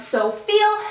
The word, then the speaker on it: SouFeel: I was introduced to by the name of So Feel. And the way that it's spelled out, it looks like So You Feel, which I thought was super clever.